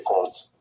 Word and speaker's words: compte: Mais laisse-moi t'instruire sur le rôle de cette cour des comptes. Cette cour s'appelle aussi la cour des comptes, qui se prononce compte, mais qui s'écrit C-O-M-P-T-E et non C-O-N-T-E.